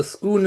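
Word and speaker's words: Scone: Yeah, it's pronounced the Schoon of Schoon.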